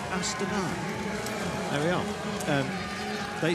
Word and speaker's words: Astana: hospital with a suspected broken collarbone this is Astana we asked them and that is the correct way to pronounce their name some of you say it's a starter no it's Astana there we are um they said that's what